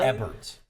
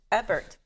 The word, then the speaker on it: Ebbert: Ebbert. Ebbert. Yeah. Think of ebb and flow, people. Are you sure? Get it right. Are you sure it's Ebbert?